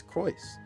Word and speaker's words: Croyce: He said Croyce. I have been saying it right that whole time, and then I changed it to Crow, because I think somebody else told me to say it to Crow, change it to Crow, but it's Croyce. I was saying it right the whole time.